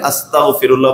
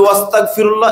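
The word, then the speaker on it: أستغفر الله: এটা কাফ যদি হয় এজন্য আমরা যারা পড়ব আস্তাগনটা উচ্চারণ করে আস্তাগফিরুল্লাহ বলব এক আর যদি বলি ওস্তাগফিরুল্লাহ এর অর্থ হল তোমরা সবাই মাফ চাও আস্তাগফিরুল্লাহ তোমরা সবাই মাফ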